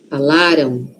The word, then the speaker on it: falaram: Aqui a sílaba forte está no lá. Falaram. Falaram. Aquele M ali tem som de O? Aqui, ó. Falaram. Tem. Mas é um O muito suave. Por quê? Porque a sílaba forte está antes.